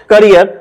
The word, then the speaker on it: carrier: आर आई ई R pronunciation क्या है कैरियर okay parts of speech